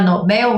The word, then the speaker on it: Nobel: elas não são acentuadas Já a palavra Nobel não é uma palavra paroxítona é uma palavra oxítona tá a sílaba mais forte é a última então o erro que